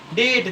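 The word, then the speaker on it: debt: डेट। जैसे कि लिखा डेट तो डी ई बी टी। तो बी के बाद टी आया है तो बी हमेशा साइलेंट होगा।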